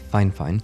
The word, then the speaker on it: Fifine: quite significantly now however this company fine fine even though it's spelled f fine they've insisted it's fine fine they reached out and